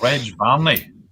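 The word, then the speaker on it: Reg Varney: Can I just say that Simon, you mispronounced it. It was Reg Barney.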